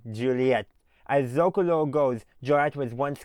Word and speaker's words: Joliet: Those are the rough syllables of Joliet. So you got J-O, Joe.